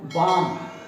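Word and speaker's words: balm: ये जो आपका पोर्शन है इसमें ऐसा जैसे कि अंदर एयर गई, आल आल, तो क्या हो गया, काम, BAM बाम। तो इसमें एल साइलेंट रहा, बाम, TAL के।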